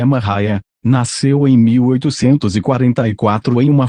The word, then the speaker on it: Maria: Maria, cuja pronúncia é Mariah, nasceu em 1844 em uma fazenda de Lisbon, Ohio.